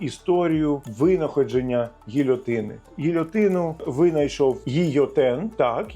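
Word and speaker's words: Guillotin: Гільотину винайшов гійотен. Так, його ім'я пишеться через doul, але вимовляється як й, бо в іспанській doul читається як й.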